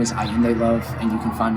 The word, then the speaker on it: Ayinde: My name is Ayende Love, and you can find me on all social media platforms under Ayende Love.